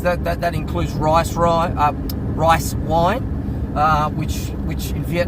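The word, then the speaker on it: rượu: That is that that that includes rice r uh rice wine uh which which in Vietnamese is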